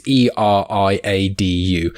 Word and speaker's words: Eriadu: And this is something, I think I mispronounced this planet, but it's Eriadu.